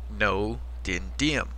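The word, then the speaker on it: Ngô Đình Diệm: No dendium. That's how you pronounce his name. Like no, forget the G. It's a silent G.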